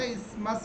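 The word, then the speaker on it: Isthmus: तो ये Cordillera Canada से लेकर ये पनामा स्थल संधि है ना, इसमस, इसको देखिए मैं टी और एस साइलेंट है, मतलब इसमस बोलेंगे इसको, ठीक है।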